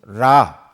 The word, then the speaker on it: 라: 로 삼아 섬긴 것이 태양신 라 또는 레 라고도 밤을 발음을 하는데 에 태양신 라 그리고